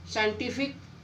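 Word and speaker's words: scientific: जब सी से पहले एस आए, जब भी सी से पहले एस आए तो सी साइलेंट। साइंटिफिक, सीनरी, मसल, देखो इसमें सी से पहले एस आया हुआ है तो आपका सी साइलेंट।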